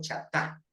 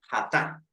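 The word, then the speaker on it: חטא: Entonces, ese que en los libros aparece mal deletreado chatá, eso en hebreo se dice hatá.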